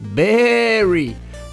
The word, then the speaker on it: Baaary: design kaos vous incarnez berry prononcé berry un mouton cyborg envoyé